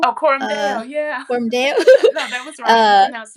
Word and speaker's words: Coram Deo: mentioned, in a project, I will pronounce it wrong, probably, but Coram Deo, Oh, Coram Deo, yeah. Coram Deo.